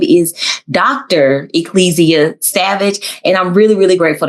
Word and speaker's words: Savage: for having me and thank you so much for pronouncing my name correctly. Oh, people mess up your name all the time. That's crazy. It's not that hard. All the time. All the time. I also get salvage.